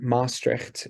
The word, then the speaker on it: Maastricht: He was going to start his own practice in Maastricht in the Netherlands, and I'm probably going to get berated about how I pronounce that.